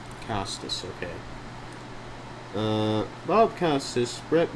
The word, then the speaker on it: Costas: Costice. Costice.